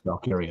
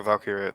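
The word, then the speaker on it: Valkyria: her name blinking on me right now Lyra valky thank you Lyra valkira there you go I I was trying to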